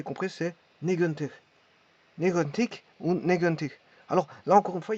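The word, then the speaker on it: negentig: Alors, là, encore une fois, il y a au niveau du palais, il y a une prononciation d'un son donc, qui est négantic, qui n'est pas un R comme arctine. Voilà, c'est négantic. Donc, il y a un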